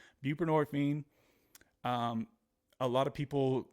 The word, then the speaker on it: buprenorphine: taking the same medication bu buprenorphine right is how you say it I used to say bu nephrine buprenorphine um a lot of